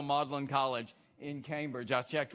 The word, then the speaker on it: Magdalene: to take a guess how you pronounce the one in Cambridge you got it's down at the very bottom all right it's the same way modelin even though it's spelled differently it's still modelin College in Cambridge I